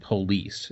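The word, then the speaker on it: Polisse: talked about it and it's a movie called police and it's spelled p o l i SS e and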